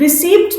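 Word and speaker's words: receipt: रिसीप्ट देखेंगे वो लोग रिसीप्ट में पी साइलेंट होता है रसीद उसी तरह हम रिसीप्ट बोलेंगे स्पेलिंग में भले पी आएगा उसकी रिसीप्ट देखेंगे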